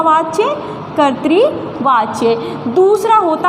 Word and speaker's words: कर्तृवाच्य: है वो कर पाएंगे आपको ध्यान रखना है कर्तृवाच्य देखिए ये जो ता के ऊपर है ये रा है ठीक है रा लगा